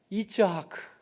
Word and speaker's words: 이츠하크: 이츠하크. 히브리 말은 이츠하크, 좀 더 정확한 발음인데요.